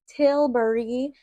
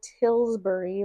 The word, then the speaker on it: Tilbury: But I get it, like not everybody knows how to say it. It's Tilbury. So I totally understand why people say Tilbury, but I'm like, that's so funny.